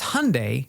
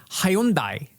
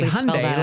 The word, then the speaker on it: Hyundai: company name and so he said it's Hyundai like Sunday.